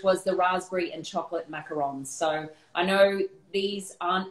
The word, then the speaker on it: macaron: Because I think there's a lot of people that say macaroon, and I know there's a difference. So I'm wondering if you can kind of break that down for us. Yeah, so macaron, which is spelt with a 1-O, it's a different type